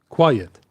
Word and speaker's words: quiet: Three vowels in a row. UI, E. And it's two syllables. Yet quiet. All right, Vivc.